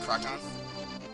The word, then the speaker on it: Krakhan: We got you here, Krakhan. Is that how you pronounce it, by the way? Pardon? Is that how you pronounce it, Krakhan? Yep, that is indeed correct.